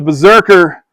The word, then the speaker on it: BRZRKR: Um, ladies and gentlemen, The Berserker, and it is spelled weird.